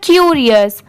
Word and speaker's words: curious: ठीक है, ये है इसे पढ़ते हैं क्यूरियस, CURIOUS क्यूरियस। यहाँ पर CU की साउंड क्या आ रही है Q की, RI और OUS अस क्यूरियस।